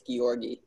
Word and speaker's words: Giorgi: It's a hard G, it's Giorgi.